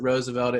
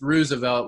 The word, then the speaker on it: Roosevelt: when people pronounce it Roosevelt because it sounds too nice it's Roosevelt like it's the ruse Roosevelt Roosevelt it is